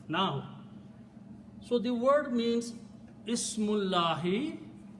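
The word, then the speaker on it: اسم الله: As I said, when we read them together, we do not pronounce this alif. So the word becomes Ismullahi.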